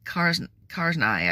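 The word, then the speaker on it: Karzai: Global Opera led President Ahmed karznai I think is the way his name is pronounced to give her a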